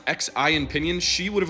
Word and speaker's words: Xi: Well, technically in Mandarin it's Xi, but the closest approximation would be She or Si. Like, I get it, you don't need to learn Mandarin to just pronounce people's names so you can approximate it, but like She is easier to pronounce than Zhee, and it's closer.